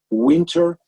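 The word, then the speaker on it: Whynter: air we are using something that calls winter but it's spelled with w-h-y-n-t-e-r and our hygienists love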